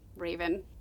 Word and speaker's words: Rave: Rave is spelled like Maeve, but with an R, so I'm calling her Rave.